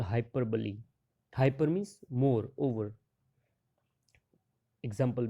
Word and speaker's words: hyperbole: Remember the pronunciation, it's not hyperbole, it's hyperbole.